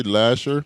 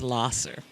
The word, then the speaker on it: Lahser: am I saying that right should I say Lasher ler the correct pronunciation is ler I'm here with the founder Cassandra Thomas of